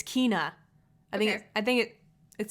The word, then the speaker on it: Kena: I guess officially now I can say, is it Ken? I always pronounce this incorrectly. Kena? Kenya? Kena? Kena. That's it. It's Kena.